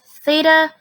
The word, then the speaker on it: theta: right here so this symbol here it is pronounced theta it is a Greek letter so th ETA and